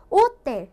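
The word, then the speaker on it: hotel: 그래서 얘를 보시면은 마지막 모음이 L이죠. 그래서 여기에 강세가 붙어요. 그래서 오텔이라고 해주셔야 된다는 거. 오텔 이게 아니라 오텔 이렇게 가주셔야 된다.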